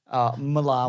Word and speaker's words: Millar: I know it is pronounced Miller, Yeah. but we've said Millar too many times to go back now.